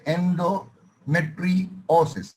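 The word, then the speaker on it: endometriosis: উচ্চারণ হবে এন্ডোমেট্রিওসিস। বলো, এন্ডোমেট্রিওসিস। এন্ডোমেট্রিওসিস, এক্স্যাক্টলি, একেবারে এন্ডোমেট্রিওসিস।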